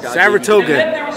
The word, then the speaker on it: Saratoga: Tell them about how Saratoga rhymes with Chattanooga, Tennessee.